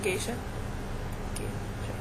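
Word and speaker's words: geisha: I read um reread Memoirs of being a gisha yeah that should be the right pronunciation anyway I still I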